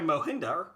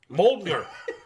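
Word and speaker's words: Mjölnir: Revealing that Hela managed to destroy Mohinder. Mjolnir. Mjolnir. Or if you don't know how to pronounce it, do it like Kat Denning did in Thor. Mjolnir.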